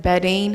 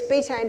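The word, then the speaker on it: betaine: heard of the supplement beding Hydrochloric wait let me pronounce that correctly it's betan Hydrochloric yes with pepsin is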